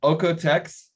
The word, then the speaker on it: OEKO-TEX: for me sure so ocotecs so it's a german um austrian foundation so it's uh that's where the the pronunciation comes from and it really means